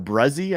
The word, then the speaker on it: Bresee: Brian Bresee, or Bruzzy, I think is how you pronounce that name, from last year's draft.